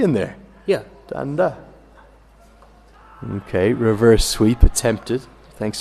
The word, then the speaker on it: Danda: They say it's Danda. Dada. Well, I reckon there's a second D in there, is there not? No. No? Well, he spelt it. This is D-A-N-D-A.